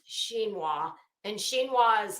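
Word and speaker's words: chinoiserie: it is spelled is c-h-i-n-o-s-e-r-i-e but it's pronounced xinhwa and xinhwa is like uh it's very Asian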